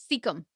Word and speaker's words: cecum: Oh, I'm not sure how to pronounce this one, but I'm going to give it a shot. Cecum.